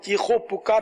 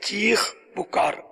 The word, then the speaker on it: چیخ پکار: جیسے ہمارے ہاں چیخو پکار بولتے ہیں، چیخو پکار بھی اہل لغت کے نزدیک ہے کہ واو یہاں آئے گا نہیں، بلکہ چیخ پکار دونوں کے ایک ہی معنی ہے نا. چیخ پکار یہ لفظ تلفظ درست ہوگا.